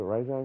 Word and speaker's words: Rajang: Is it Rajang or Rajang? I like to prefer it's Rajang, because that's how it's spelled.